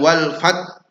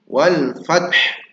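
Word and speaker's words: والفتح: Sekarang wal fat. Nah fat saja padahal ada huruf ha di situ. Wal fath.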